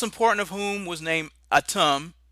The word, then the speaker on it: Atum: of whom was named Atum, a name virtually identical in pronunciation to the Semitic word Adam, which was used to describe the human male.